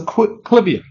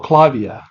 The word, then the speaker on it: Clivia: It's the Clivia or Clivia, however you want to pronounce it.